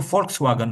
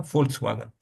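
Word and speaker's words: Volkswagen: एक एक गाड़ी जो मशहूर है जर्मनी की, जिसको फोल्क्सवागन बोलते हैं, आपने नाम तो सुना होगा ना, फोल्क्सवागन। जी सर, जी सर। यस सर, box folk, हुआ है। फोल्क्सवागन, वो भी जहाँ तक ये मुझे।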